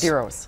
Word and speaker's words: DEROS: How do you pronounce that? DEROS? DEROS. DEROS.